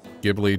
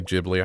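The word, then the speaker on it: Ghibli: what I've seen lately gibli jibli I think it's pronounced jibli it's a good movie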